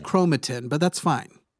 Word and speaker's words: chromatin: proteins DNA and RNA uh chromatin correct it's pronounced chromatin but that's fine it's not I'm just [